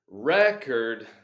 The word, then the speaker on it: record: used as an adjective it's record not like a verb second syllable often gets the syllable stress a record to